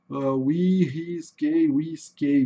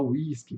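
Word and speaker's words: Whiskey: Whisky é exatamente o que a gente fala em português, tá? Sem grandes dificuldades. Tá? Mas olha só, pessoal, como se escreve em inglês, ó. W-H, K-E-Y, né? A gente não vai falar whisky, né?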